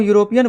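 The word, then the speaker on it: European: जब हम यूरोपियन बोलते हैं तो आवाज यू यानी अ की आती है।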